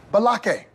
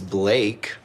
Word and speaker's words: Blake: Balake. Where is Balake at? Yes, sir. My name is Blake.